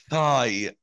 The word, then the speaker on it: thigh: المنطقة اللي فوق الركبة دي اسمها thigh. thigh. طاي. طلع لسانك في الث. thigh. طاي. دايما لما يكون في I بعديها GH أو GHT تكون ال GH silent، فهنا نقول thigh.